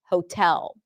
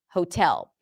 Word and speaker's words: hotel: in cat, but it does have the long o. And I'm assuming that what you're doing is maybe opening up to hotel or hotel instead of long o as in go and putting the stress on the second syllable, hotel, hotel.